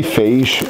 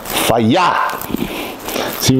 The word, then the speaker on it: Fage: six consists of fagee I say fase it actually tells you how to pronounce this which is fire see got an explanation mark